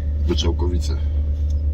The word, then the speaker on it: Goczałkowice: That is a garden, but I can't really pronounce the name, though. I'll ask my husband. Baby, name? Goczałkowice.